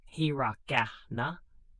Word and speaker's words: hiragana: Simplified phonetic scripts called hiragana, pronounced hiragana, and katakana, pronounced katakana, developed alongside Chinese characters.